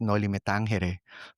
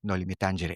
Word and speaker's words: Noli Me Tangere: Like we all know it as Noli Me Tangere, because but it's not actually in Spanish. The title, the book is in Spanish, but the title is in Latin.